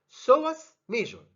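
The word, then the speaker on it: psoas major: so what's measure always remember that the b is silent so was measure next to it and the fourth muscle is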